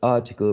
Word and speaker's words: article: We talked about the general rule for 3-syllable words, like universe, article, relative, democracy. And here the rules indicated that the third syllable from the right to the left was the one which carried the stress.